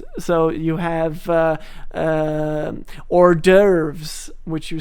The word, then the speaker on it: hors d'oeuvres: Like any word that has an H at the beginning of it will be pronounced without it. So you have hors d'oeuvres, which you spell like this.